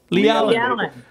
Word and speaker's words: Leigh-Allyn: Leigh-Allyn.